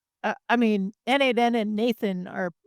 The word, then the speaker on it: n8n: Lindy like and the Lindy folks called it Nathan and I was like what's Nathan and they're